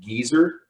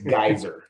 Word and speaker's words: Gaisser: I went to a German dictionary to find out how to pronounce it, and it said Geezer. So I've been calling him Geezer on the Hangouts, and he says, I'm not that old, I'm a guy, it's Gaisser.